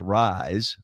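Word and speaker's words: RYZE: it's amazing and it's called r y Ze pronounced rise play on words R YZ no I don't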